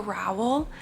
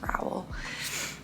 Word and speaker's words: Rowell: Eleanor and Park by Rainbow Rowell. I believe is how you pronounce their last name. I'm pretty sure it's Rowell.